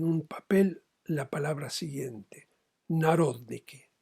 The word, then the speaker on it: Narodniki: papel la palabra siguiente: Narodniki. N-A-R-O-D de dedo, N-I-K-I con acento en la O.